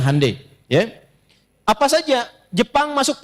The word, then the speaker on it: Hyundai: Ya, ya Hyundai saya tahu bahasanya dibacanya Hande.